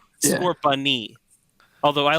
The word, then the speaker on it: Scorbunny: Yep, and that's Scorbun. Yes, You got the name wrong. said. You thought it's the goat, but you got the name wrong. Yeah. Scorbunny.